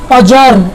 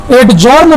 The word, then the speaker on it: adjourn: उसके बाद ADJOURN, अजर्न, इसे आप क्या पढ़ोगे, अजर्न। डी का प्रोनाउंसिएशन नहीं होना चाहिए। यदि आप इसको एडजर्न पढ़ते हैं तो आपका प्रोनाउंसिएशन गलत होगा और इसका मतलब होता है स्थगित करना।